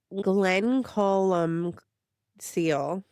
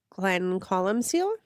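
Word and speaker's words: Glencolumcille: We did the Oh boy, I don't know how to pronounce it. Glen Colum Seal. Glen Colum Seal.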